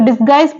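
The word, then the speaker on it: disguise: next word है डिसगाइज तो डिसगाइज पढ़ते हैं डिसगाइज में यू जो है यहां पर वो साइलेंट है नेक्स्ट वर्ड है गिटार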